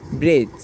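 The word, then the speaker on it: bridge: ডি জি ইয়েছে এখানে ব্রিজ এখানে শব্দটা হচ্ছে ব্রিজ এখানে আমাদের উচ্চারণের লেখার ক্ষেত্রে একটু লেখার ক্ষেত্রে এখানে ড উচ্চারণ লেখা হয়েছে কিন্তু এখানে বর্গাজ উচ্চারণ হবে ব্রিজ বিআর আই ডিজি উচ্চারণ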